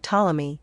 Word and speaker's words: Ptolemy: Next are labial mutes omitted, such as in words like Ptolemy, the p not being pronounced, thus muted.